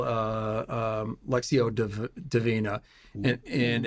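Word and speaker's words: lectio divina: in a special way it's called uh um lexio deina and it's spelled l e c TI o d i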